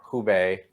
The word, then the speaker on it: Hubei: for us uh sure the way i pronounce it would be well who bae it's kind of the minnesota act you get a little bit extra but uh it'd be probably more tonal if you were to pronounce it but hubei is generally